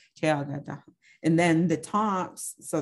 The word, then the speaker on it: ceyágadaga: And so mint is pronounced Chayaga Daha, Chayaga Daha, Chayaga Daha.